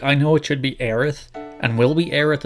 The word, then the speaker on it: Aerith: about Eris look I know it should be Aerith and will we air it in the remake